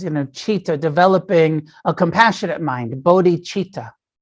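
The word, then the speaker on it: citta: uses uh that's uh c-i-t-t-a and the c is spelled like a ch like a ch cheetah and when he's talking about training the mind he says you know cheetah developing a compassionate mind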